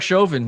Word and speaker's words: Chauvin: Derek Chauvin. It's pronounced Chauvin.